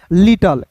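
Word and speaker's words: little: आई का उच्चारण इ के रूप में करते हैं। डबल टी का ट एल का होता है दोस्तों ल। क्लियर? और अंतिम में जब भी आपको इ दिखेगा तो अंतिम में आया इ जो है दोस्तों हमेशा जो है साइलेंट होता है। उसका उच्चारण नहीं करते हैं।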